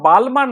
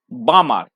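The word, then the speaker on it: Balmer: ঠিক আছে বোঝা গেল আর উচ্চারণটা হচ্ছে বালমার নয় বামার এল টা এখানে তোমার সাইলেন্ট থাকবে ঠিক আছে মানে বাংলায় যদি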